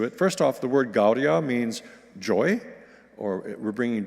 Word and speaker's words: Gaudia: Gaudia, Gaudia is how we will pronounce those first two words, but the rest is pretty straightforward. And it goes like this. Gaudia, Gaudia, come one and all.